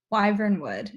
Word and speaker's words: Wyvernwood: Wyvernwood is how I understand it to be pronounced.